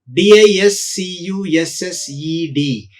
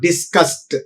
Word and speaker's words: discussed: And one more word, discuss, and the past tense is discussed. Here also the past tense marker ed is pronounced as ta, discussed, not discussed.